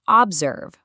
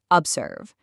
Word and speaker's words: observe: Listen to the first O in observe. We don't say observe. We say observe.